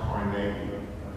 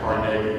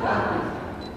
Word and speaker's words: Carnegie: By the way, it's pronounced Carnegie. I got jumped by people from Pittsburgh. They jumped me. They told me it's Carnegie. I pronounced it Carnegie.